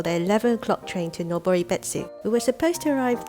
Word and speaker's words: Noboribetsu: I don't know how to pronounce it. Oh, it's Noboribetsu.